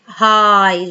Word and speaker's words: high: high gh silent.